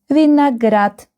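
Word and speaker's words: винегрет: The next is grape and we read vineat. The last syllable is stressed.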